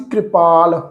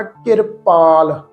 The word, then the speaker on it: किरपाल: एक पाठ सी कृपाल, कक्के दे पैर च रारा लगा सी, इत्थे पाठ आ किरपाल, रारा अखर मुक्त है जी, कक्के दी सियारी है के र पाल, किरपाल।